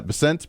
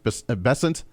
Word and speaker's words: Bessent: Uh Bessent Bessant, however they pronounce it. I think it's Bessant. I like to say Bessent, but I think he calls him Bessant.